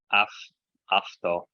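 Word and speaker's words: αὐτό: Okay, iskotia afto. Yeah, so auto in English, but remember that alpha epsilon makes an af sound, AV or AF.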